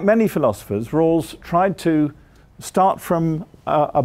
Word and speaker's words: Rawls: American philosopher called John Rawls I'll spell that for you because it sounds like rules but it's r a w-l-s do you all know